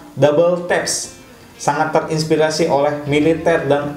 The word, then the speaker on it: WTAPS: Jadi bacanya ini adalah Double Taps.